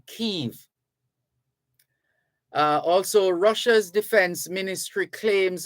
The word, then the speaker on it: Kyiv: for their capital is Kyiv. That's what the Ukrainians say. And the Russians prefer to use the term Kiev. So the Russians say Kiev, K-I-E-V, and the Ukrainians say Kyiv.